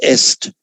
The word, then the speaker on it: est: And that in Latin, that's est. Same spelling in French, but pronounced e.